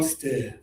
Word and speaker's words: stiff: And low tongue. Stiff.